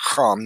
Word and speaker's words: Ham: The Bible states that Genesis 6:10, Noah had begat three sons, Shem, Ham, his name would be pronounced Ham in Hebrew, and Yafet.